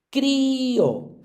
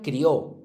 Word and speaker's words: crío: Como va con una fuerte, igual la débil, si queremos pronunciar la fuerte, hay que ponerle tilde. Si no, se diría crió, que también existe la palabra crió.